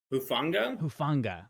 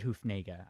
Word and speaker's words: Hufanga: Hufanga? I said Hufnega. I switched up some syllables.